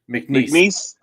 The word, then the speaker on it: McNeese: Is it McNeese? That's how you pronounce it. McNeese.